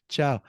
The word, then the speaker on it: ciao: got Juliana who's probably really tired she says CIA a lot CIA it's Italiano ciao so and Chow is not everybody's gonna use it in some